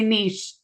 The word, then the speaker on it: niche: do you say it I'm Canadian so we say Niche n it's a French word so it's niche nich and you speak French